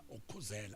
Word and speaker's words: ukhuzela: Ngathi ngiyakhuzela ukhuzela, and the stress is on the word KHU ukhuzela.